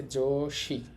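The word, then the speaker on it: 女子: দেখেন চীনা উচ্চারণ হবে শি। এখানে লেখা আছে যোশি।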